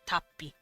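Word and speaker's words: tappi: So let's say eat as a funny little teehee towards Japanese is tapi. Tapi. Because there's two P's, it geminates, so you kind of stop before pronouncing the P. Tapi.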